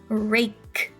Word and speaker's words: rake: Rake. Rake. That silent E is telling this A, say your name, so it's rake.